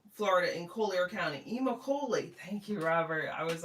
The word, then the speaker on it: Immokalee: Robert says, "Actually, it's pronounced Immokalee, Florida, in Collier County." Immokalee.